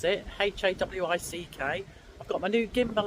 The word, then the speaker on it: Hawick: So, a lovely peaceful night in Hawick, which I'm told is how you pronounce it, Hawick.